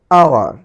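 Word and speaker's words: hour: এইচ এর উচ্চারণ silent থাকবে এখানে, অনেস্ট। আওয়ার, আওয়ার, আওয়ার।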